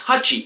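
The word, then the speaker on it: 八: 8 is pronounced hachi, but if it is repeated, it is pronounced pachi.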